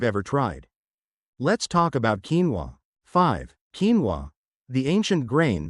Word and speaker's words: quinoa: I'm talking about quinoa, pronounced quinoa, a staple of the ancient Incan diet, known as the mother of all grains.